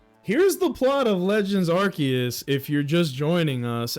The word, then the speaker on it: Arceus: It's supposed to be the the arc phone, but I also used to say um Arus, but apparently it's Archus the whole time.